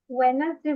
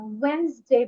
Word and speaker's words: Wednesday: ওয়েডনেসডে বলে না, ওয়েনসডে বলে। কি বলে? ওয়েনসডে। ওয়েনসডে, ডি এর উচ্চারণটা হবে না, বলতে হবে ওয়েনসডে।